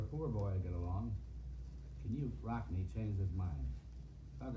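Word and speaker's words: Knute: However, Bob, his mother always insisted that his name be pronounced Knut. Knut.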